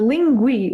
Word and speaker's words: Linguee: i would in uh i would recommend the linguie with double e in the end lingui lingui um gives you uh pronunciation as well you know in american english